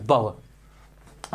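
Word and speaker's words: bower: है बावर ओके बावर बावर फिर कहोगे इसका प्रोनंसिएशन क्या होगा सर बावर आर साइलेंट है रेजिंग रेजिंग का मतलब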